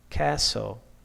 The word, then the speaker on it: castle: Pneumonia, psychology, T in a T way, Christmas, castle, k, knife, no, knock, okay?